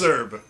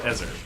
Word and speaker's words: ESRB: I've never heard someone actually sound out those letters before. How have you not? ESRB. Wait. What is Ezerb. ESRB? Yeah, that's what Yes. I'm saying. Who does that? Who does that? It's Ezerb. No, it's E ESRB. No. Okay. When has it ever been Ezerb?